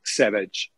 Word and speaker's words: Savage: era il doc Savage era scritto Savage Ma si pronunciava in inglese Cioè era inglese no Quindi era doc Savage No è vero però